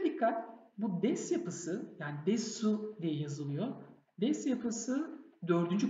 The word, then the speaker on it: です: Erkekler des yapısını desu diye telaffuz etmiyor. Sondaki u'yu atıyor. Des diye telaffuz ediyor. Ama kadınlar bazı durumlarda desi desu diye telaffuz edebilir.